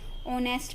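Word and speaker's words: honest: ऑनेस्ट में H silent होता है, नोक में के, इसमें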